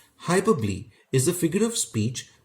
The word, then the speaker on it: hyperbole: this word o is silent and it is pronounced as hyperbole hyperbole is a figure of speech when the poet